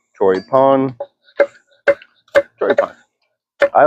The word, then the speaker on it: Choripán: Pan means bread in Spanish. Chip pan. Troy pon with an accent on the a. Chro pon. Troy pon.